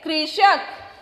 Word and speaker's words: कृषक: क के नीचे री लगाया, क्या बना? क्री।